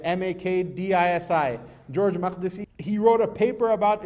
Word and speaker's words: Makdisi: a christian palestinian scholar his name is george mcdesi i don't know if he's even alive anymore or not george spelled george and makdisi is spelled with a k not with a q right m-a-k-d-i-s-i george mcdesi he wrote a paper about islam in the